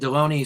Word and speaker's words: Deloney: And Deloney said rhymes with Bologna.